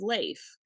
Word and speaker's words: Leif: goes actually it's pronounced Leif and she goes you know like you go to Hawaii and they give you they give you a lei it's Lei she goes